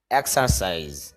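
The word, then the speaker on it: exercise: হবে এইভাবে ইট খাওয়া এক্সারসাইজ এক্সার এখানে র যে সাউন্ডটা র সাউন্ডটা হবে না এক্সারসাইজ অর্থ হলো ব্যায়াম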